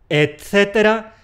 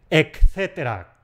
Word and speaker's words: etcétera: ¡Etcétera, etcétera, etcétera! Se pronuncia con una te. Es un error decir , como si hubiera ahí una ka. Es ETcétera y no . Etcétera con te.